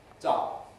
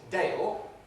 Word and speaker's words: Dale: and he told me his name was dar and i was able to write it down correctly what's up that is dale dale london all returns as we know until london a diphthong shifts to high smoothing gives us stuff which is what he said so it's all logical